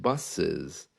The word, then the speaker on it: buses: just a little bit buses it has a kind of a zed sound coming in but not completely